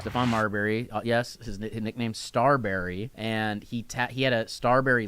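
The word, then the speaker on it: Starbury: No, it's Starberry. His name is Marbury, and he's a star.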